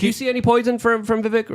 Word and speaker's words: Vivek: Yeah, so we have another super chat by Lane Bold 63 saying Vivek is pronounced like the word cake.